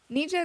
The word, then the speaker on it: Nija: the girl the feature is it Nija ninja that's how you say her name I love that song